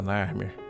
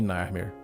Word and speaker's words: Narmer: representando foneticamente o nome Narmer. A primeira figura é de um peixe-gato, pronunciado Nar, e o segundo é de um cinzel, pronunciado Mer, em egípcio antigo.